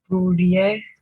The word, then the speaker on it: pluriel: Pluriel. Elle. Pluriel. You really have to pronounce the L.